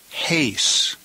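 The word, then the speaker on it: εἷς: number one haste now be very careful that you don't confuse this with the preposition ace notice the preposition Ace does not have an accent and it has smooth breathing. Whereas the number 41 case has rough breathing and an accent.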